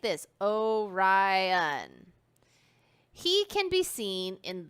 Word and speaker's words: Orion: name is Orion you say it like this Orion he can be seen in the cold months